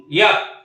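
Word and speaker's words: yolk: Number 21 ডিমের কুসুম, ইয়াক, YALK, এর প্রনাউন্সিয়েশনটা একটু সাইলেন্ট রাখবো।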